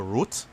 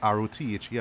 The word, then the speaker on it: Rothe: She's played by Jessica Roth, Rothe. I believe that's how you pronounce her name.